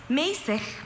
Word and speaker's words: mäßig: Mäßig means moderate in tempo, used as a direction in music. Mäßig. Mäßig. Not easy to say. especially that last consonant Mesig. sound at the end.